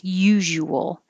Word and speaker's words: usual: is a weird combination usual could be very clearly three syllables usual you can also get more lazy and push it together usual but you do have to round your lips for the wool usual or usual and 48 unusual unusual